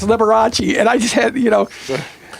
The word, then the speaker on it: Liberace: But you know, um one of my attendings said, "No, he pronounces it liberates." No, he doesn't. No, he doesn't. you know, he calls at 2 a.m. the one morning said, "Yeah, it's Liberace."